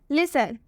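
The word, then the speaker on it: listen: का उच्चारण नहीं होगा लिसन में भी लास्ट में टीई एन आया है इसलिए हम इसमें टी का उच्चारण नहीं करेंगे देख सकते हैं आप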